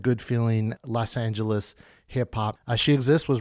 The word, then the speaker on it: Shexist: And remember, if you were confused about how to pronounce She Exist, it is spelled S H E X I S T.